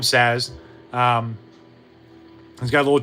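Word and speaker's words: Sazh: So, we get good old Saz or Saw, whichever way you want to pronounce it from Final Fantasy 13. I like to call him Saz.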